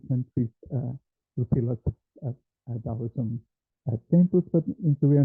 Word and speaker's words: Taoism: It's spelled with a T, but you pronounce it Taoism.